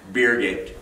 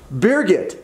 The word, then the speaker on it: Birgit: Birgit. Birgit. Yep, as in get beer.